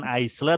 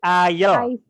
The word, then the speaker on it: aisle: Islam isley tulisannya tapi cara bacanya bukan aisle tapi ayo ayo ayo ya itulah bahasa Inggris ya